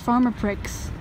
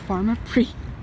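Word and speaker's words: Pharmaprix: going to the pharmacy and it's not pronounced farmer pricks it's pronounced farmer 3 this is the equivalent of Shoppers Drug Mart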